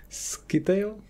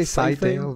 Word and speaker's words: Scytale: Skitail? Well, I say Scytale, but... Scytale? I don't know. Okay, Scytale, Skitail. I'm sure there's pronunciation guides. I always imagined it's like a scythe. It's gonna cut you up.